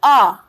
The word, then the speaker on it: hour: But our's pronunciation, although we write our as H-O-U-R, but its pronunciation starts with R.